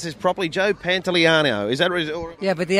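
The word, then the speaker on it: Pantoliano: Can I pronounce this properly? Joe Pantellano.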